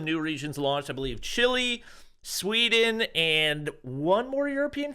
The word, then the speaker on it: Chile: yeah uh you're forgetting that Chile is not English-speaking country it's primary language is Spanish and under the rules of Spanish pronunciation the name of the country is correctly said as Chile hey uh nope you're